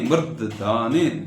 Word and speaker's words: मूर्धनि: double लकार है चिवल्लरी चिवल्लरी चिवल्लरी चिवल्लरी विराजमान मूर्धनि विराजमान मूर्धनि र में आकार है विराज मकर में आकार है मान मु क्या दीर्घ है मूर्ध मू रकार नीचे आएगा मूर्धनि मूर्धनि दकार और धकार मूर्धनि मूर्धनि दकार और धकार का क्या होगा मूर्धनि मूर्धनि